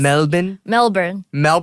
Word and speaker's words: Melbourne: And you moved to Melbourne. Melbourne? Yes. Melbourne. Whoa, that was such an American pronunciation.